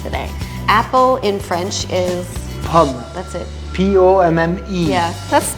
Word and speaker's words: pomme: Apple in French is Pomme.